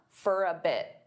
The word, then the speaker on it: for a bit: Now, many native speakers will combine all 3 of these together and they'll pronounce for as more of an unstressed fur. For a bit, for a bit.